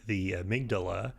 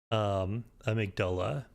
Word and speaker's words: amygdala: We had seen some of those big aliens, the amygdala, or amygdala as Patches calls them. I'm not sure which is the technically correct pronunciation there.